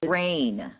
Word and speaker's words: Renee: Rennie or Renee? Do you know? Renee. It's actually pronounced rain. Rain. Like it's raining outside. It's rain.